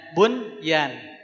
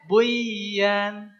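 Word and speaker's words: بنيان: nun sukun ketemu ya secara hukum mah bacanya Buyan tapi tidak ini dibacanya bunyan ya kaannahum bunyyanum marsus ya Innallaha yuhibbulladzina yuqotiluna fiabilihi shofan kaannahum bunyanum marsus bunyan seperti kokoh seperti bangunan bunyan tidak boleh jadi buan mutlak tidak bisa diganggu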